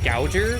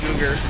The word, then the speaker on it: Googer: read the word Googer, I thought it said Gouger, because that's how you spell that word. And then I thought for a second and I was like, no, it's Googer. It's definitely Googer.